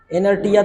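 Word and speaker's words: inertia: तुम बताओ क्या लिखा है और बताओ इसे इनर्स ही पढ़ेंगे इनर्स अब ये क्या हैय इनर्टिया तो तुम पढ़ोगे नहीं पता ऐसा कोई शब्द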